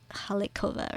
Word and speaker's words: Hlidkova: Yeah, actually, I just don't know if the L is silent. So now that I've known, it's Hlidkova, right?